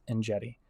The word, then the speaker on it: Enjeti: is chanson Shetty art my name is and jetty with a th and I know it's